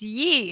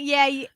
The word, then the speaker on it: Ye: It's Yee. It's not Yay. It's Yee.